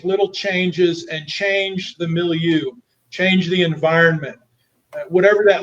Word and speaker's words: milieu: it before right you got to say it with a fancy french pronunciation it's milieu yes we have to get